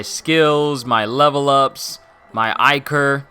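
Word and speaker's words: Ichor: It's not going to import my skills, my level ups, my Iker. I hear people say that it's pronounced Iker and not Eker.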